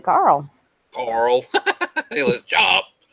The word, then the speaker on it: Carl: Carl. I hate that name because I can't say it properly. Like it just sounds like I'm saying Carol because that's a Carol, Well, Carl.